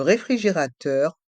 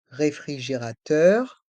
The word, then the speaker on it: réfrigérateur: onde le micro-onde le réfrigérateur le frigo le réfrigérateur le frigo dans le mot réfrigérateur on prononce bien chaque syllabe le réfrigérateur et les